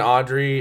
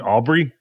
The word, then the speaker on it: Aubrey: was younger my bad Brandon Audrey is Audrey you mean Aubrey Aubrey yes sorry said it wrong um born in 95